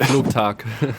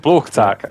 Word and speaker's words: Flugtag: Tell me how to pronounce it. Flugtag. Flugtag.